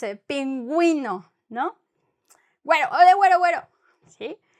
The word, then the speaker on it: pingüino: Sometimes, and it's just in many, like, few words, sometimes the U is pronounced.